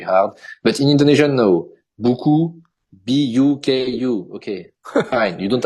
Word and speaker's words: buku: In France, when you want to make the sound U, you have to put O and U, the letter O and the letter U.